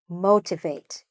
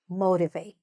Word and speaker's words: motivate: The verb itself is to to motivate or motivate. Okay? You can pronounce the T or not pronounce the T. It's fine either way.